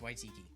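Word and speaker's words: Waititi: You have to pronounce it properly. Taki or Watiki. You're racist. It's Tiki Watiki. That's what I'm gonna call it. That's fucking racist. Tiki Watiki. That's crazy, dude. So Ricky Tiki Tavi fucking directed this movie. That's crazy. Say it properly, or you're racist. I don't know. I know it's Waitiki. That's his last name.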